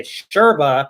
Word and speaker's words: yerba: So that's also why I say sherba, because Y's are pronounced sha as well in Argentina.